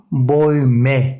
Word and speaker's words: Bäume: A umlaut olunca E şeklinde okunur. E, U, oy oluyor. Bäume şeklinde okuyoruz.